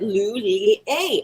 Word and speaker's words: Lhuillier: And I had to say, I don't know how to pronounce the name. And she said, Lhuillier. And I was like, oh, okay, great. And there I am. Hello, good afternoon, Monique Lhuillier.